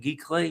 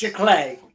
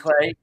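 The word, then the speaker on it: giclée: gay prints geese how do you say that geek clay prints jlay jlay glay thank you prints you can buy if you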